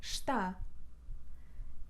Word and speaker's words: está: 3ª pessoa singular ele é inteligente e esta está e esta está esta janela está fechada Mas